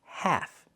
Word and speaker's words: half: The word is pronounced half. Use the a sound like black cat. And remember the L is silent.